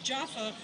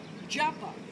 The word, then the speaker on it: Jaffa: of the second temple japa japa japa p in Hebrew looks the same as the F sound it all depends whether you put a dot in the middle or not we're not going to